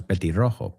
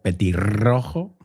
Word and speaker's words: petirrojo: Petirrojo, doble R ahí. No es petirrojo. Petirrojo. You got to roll your R's there, right?